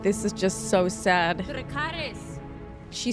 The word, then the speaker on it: Dracarys: Dracarys. Oh, I'm really trying to hold it in. I'm trying to keep it together, but this is just so sad. Dracarys.